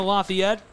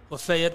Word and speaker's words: Lafayette: Arkansas transferred from Louisiana Lafayette we had a little laugh about how to pronounce lefet Lafayette or lefet depend where you're yeah that's a real